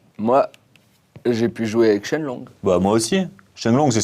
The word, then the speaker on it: Shenlong: Mais en chinois, les kanji de Shoryu, le dragon ascendant, se prononcent Shenlong.